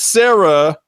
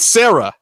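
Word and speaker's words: Serra: Matt Sarah, his nickname is Terror because it somehow rhymes with Sarah.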